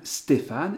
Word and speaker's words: Stéphane: configuration ST, et donc Stéphane, évidemment, va se syllaber, se segmenter, Sté, Fa, Ne.